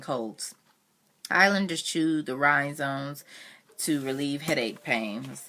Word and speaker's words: rhizome: calling it that this this word is spelled RHIC ome a rhizome and it was saying